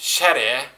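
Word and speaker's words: 洒落: Shade, pronounced shere, reigns there supreme.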